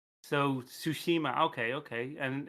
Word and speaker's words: Tsushima: So it's the Tsushima. T is silent then. Yeah, but the TSU is kind of done as one sound. So Su. Okay, Tsushima. So Tsushima.